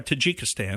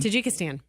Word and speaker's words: Tajikistan: They took their bikes through Tajikistan. Am I saying it correctly? Well, Tajikistan. Tajikistan. Okay, that sounds better.